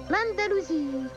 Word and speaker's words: Andalousie: J'espère que je l'ai bien prononcé, l'Andalousie. Azur, nous sommes là. Mais oui, tu l'as bien dit, Bibi.